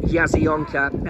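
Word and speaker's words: Jasionka: And it's spelt with a J, but it's called Yazyonka Airport.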